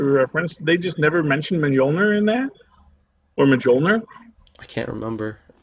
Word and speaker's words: Mjolnir: Because I think everyone pronounced it Mjolnir because it's spelled with a J. That's how you pronounce a J, is a J.